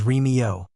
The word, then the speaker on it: Remigio: Author's note: Remigio is pronounced as Remio.